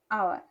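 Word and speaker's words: hour: जैसे मैं एक एग्जाम्पल आपको बताती हूँ, आवर, इसको हम पढ़ते क्या है, आवर, अ से, आ से, आवर, हालांकि यच से है, यच हमारा यहाँ पे साइलेंट होता है, ठीक है।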